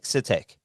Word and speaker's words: Sitek: Is it, I've never pronounced his last name. Is it Sitek? Sitek.